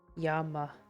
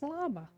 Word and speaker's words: llama: Yama, Yama? What? I thought it was llama. Have I been wrong? Yeah, yeah, Bucky. Yama. Oh, Really? Llama is Yama?